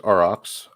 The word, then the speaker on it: Aurochs: But is it Aurochs, or how do you actually pronounce it is pronounced Aurochs. Okay.